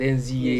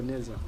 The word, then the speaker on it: NZA: I pronounce it NZA, It's but either NZA or Neza.